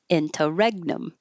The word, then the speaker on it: interregnum: Inter in I have to change the stress interregnum. Dun dand interregnum.